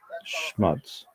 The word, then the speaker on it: schmutz: Properly pronounced, it should rhyme with putts, not cuts. Schmuts.